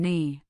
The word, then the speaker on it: knee: We say night now and n for night no and knee. This was not always the case. Centuries ago that K was pronounced a guttural sound that has gradually faded from use leaving its ghost in the spelling. This silent K is a direct window into the old English pronunciation of our language.